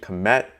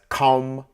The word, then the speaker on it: kom: So the average American English speaker and layman will more than likely read this term and think it's pronounced as kam or cam. But to determine the proper vocalization, again, we have the term still existing in the living Akan language with the same meanings, which is vocalized, pronounced as kom, also referencing to bend, to bow.